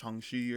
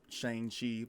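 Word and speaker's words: Shang-Chi: heard anything yeah um it's pronounced changshi or something like that um not shane chi but either way um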